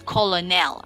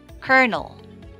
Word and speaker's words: colonel: be pronouncing it as colonel right colonel but it's actually pronounced as kernel colonel very good one